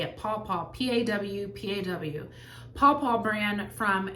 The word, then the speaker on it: Paw Paw: That's how you say it, Paw Paw, P-A-W, Paw Paw brand from Amazon.